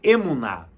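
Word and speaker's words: אמונה: A melhor palavra para fidelidade é uma palavra hebraica que se pronuncia emuná.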